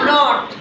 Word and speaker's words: knot: यहाँ पर भी के चुप हो गया, ठीक है हम दोनों फ्रेंड्स हैं, मैं चुप हो जाता हूँ, क्या आवाज़ आएगी, नॉट।